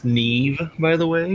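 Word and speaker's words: Niamh: is knee is pronounced neve by the way name h on the stream yet either hold on yeah it's it's gaelic phonetics just think n-e-e-v neve spelled n-i-a-m-h love it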